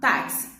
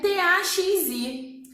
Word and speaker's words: táxi: Agora, se escreve T-A-X-I. Só que eu falo taxi? Não, eu falo táxi, né? Então, olha só os sons. Eu escuto o som do T, do A, do KS ou do CS e o I.